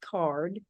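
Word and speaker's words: CAURD: fifty applicants it's called card the acronym is c-a-u-r-d pronounced card stands for conditional adult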